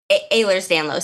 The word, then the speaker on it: Ehlers-Danlos: Ehlers-Danlos syndrome. Ehlers-Danlos.